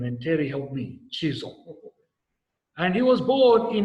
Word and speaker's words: Chisholm: And I had to practice how to pronounce this last name, and Terry helped me, Chisholm.